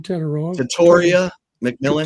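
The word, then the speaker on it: Tetairoa McMillan: How do you pronounce his name? Tatoria McMillan.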